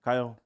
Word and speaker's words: Kiel: Evening, Kyle. Kyle, how we doing? You I good? don't mind though, because obviously the way it's spelt, it's not spelt the way it's normally.